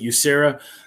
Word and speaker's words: USERRA: and re-employment rights act simply we pronounce it you sarah enacted the current version